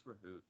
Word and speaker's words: Rahu: Miss Rahu, how do you say that? Is it Rahu? Yeah, it's Rahoot, but it's.